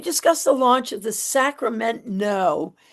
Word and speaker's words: Sacramento: Um but also, in Sacramento, if you're from Sacramento, you don't pronounce the T, right?